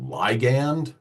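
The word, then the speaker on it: ligand: response now that word some people will pronounce it liand um and essentially that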